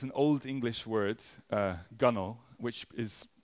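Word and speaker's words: gunwale: it's an apparently it's an Old English word Gano which is pronounced differently from how it's spelled essentially refers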